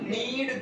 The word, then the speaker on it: knead: चलिए आटा गूंथना की इंग्लिश, हाँ नीड द फ्लोर. तो नीड, नीडेड, नीडेड. KNEAD होता है.